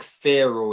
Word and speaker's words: Pharaoh: It's Pharaoh. Not like Pharaoh, like pharaohs in Egypt, like.